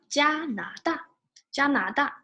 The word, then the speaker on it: 加拿大: 鸡鸭加拿大加拿大 So pay attention to the tones. First tone, 加 Second tone, 拿 Fourth tone, 大加拿大 is Canada.